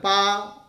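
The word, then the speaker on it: 八: This is pronounced as...Pa, this simple character, pa, in Chinese, it is 8, pa, Bangla art.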